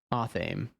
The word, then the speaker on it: athame: More emphasis on the first syllable. Athame. Athame?